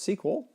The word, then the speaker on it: SQL: in the database language SQL sometimes pronounced sequel the results of a